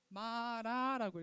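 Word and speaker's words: מרה: 히히 히브리어 마라라고 읽어요. 여기서부터 읽는게 아니라 여기 왼 오른쪽부터 읽습니다.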